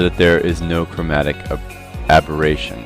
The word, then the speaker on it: aberration: I pronounced this incorrectly in the last video, so let me take this chance to say it's chromatic aberration, and I'm so used to saying abrasion that I can't get it out of my vocabulary.